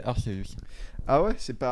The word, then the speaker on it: Arceus: malheureusement, il faut prononcer Arceus. Ah ouais, c'est pas Arceus, c'est Arceus.